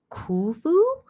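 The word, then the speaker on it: Khufu: It's pronounced kufu.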